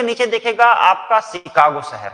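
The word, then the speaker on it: Chicago: सी एच आई सी ए जी ओ शिकागो। उसको pronounce करते हैं हम लोग शिकागो।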